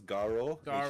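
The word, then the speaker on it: Garou: pronounce it right it's garo you do not pronounce it as guru because that's completely different and you do not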